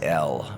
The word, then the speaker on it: El: The god name is El, pronounced like the letter L.